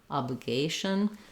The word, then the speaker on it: obligation: on that stress syllable, obligation will help you get the rhythm. Then in obliged, letter G says J, but in obligation, letter G says G, like go.